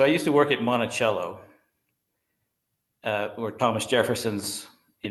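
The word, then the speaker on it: Monticello: you uh so I used to work at Montichello uh or Thomas Jefferson's you know home and uh it was pronounced Montichello but there were people from a town in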